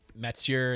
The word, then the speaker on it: Mathieu: So right now, Mathieu, and I say it like that because I'm French, seems to be the guy we could probably target for our next coach.